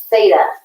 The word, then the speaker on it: theta: horizontal cross bond is a greek letter t that's pronounced theta okay dheta and if you were